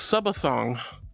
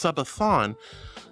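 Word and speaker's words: Sabaton: Pants say Subathong. No, no, no. That's not how you pronounce it. It's Sabathon. You said Subathong. I say Sabathon. It's a little different.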